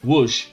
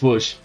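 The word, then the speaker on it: Łódź: to Wellington see B says your pronunciation pronunciation of Ls is correct it's wo okay it's wo that's what we're going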